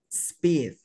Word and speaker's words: speed: Antes de continuar, esta palabra, speed. Speed. Speed. Speed. Sin la E. Speed. Speed. No, sin la E. Speed. Speed. Vamos a pronunciar la S. Pronúnciala. Ok. Y agregamos la P. Speed.